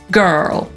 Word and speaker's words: girl: I po brytyjsku „dziewczyna” to „girl” /ɡɜːl/. A Amerykanie znów to samo – zastępują sobie tę samogłoskę spółgłoską /r/, więc „dziewczynę” wypowiadają jako /gɜ:rl/.